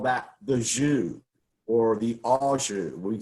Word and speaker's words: jus: So J-U-S is pronounced jus, and L-I-E is lié.